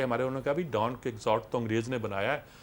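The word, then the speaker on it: Quixote: Dawn کیہوٹے کو انگریزی میں لکھتے تھے ڈان ککزاٹ, اس کا تلفظ ڈان ککزاٹ ہوا کرتا تھا.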